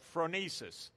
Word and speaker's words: phronesis: peacemaking, is, and I'm going to mangle the pronunciation again, but phronesis.